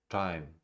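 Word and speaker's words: thyme: not Thames, Thames, Esther, time, which is a spice. And names are spelled with a TH, they are pronounced as if they were spelled with a normal T, like that.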